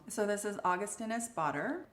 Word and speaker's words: Augustinus Bader: So this is Augustinus Bader. Augustinus Bader.